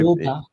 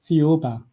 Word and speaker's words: Thiaoouba: Now, there's a prophecy that you want to talk about and I cannot figure out how to pronounce it. So, I Thiaoouba. I'm sorry? Thiaoouba. Thiaoouba.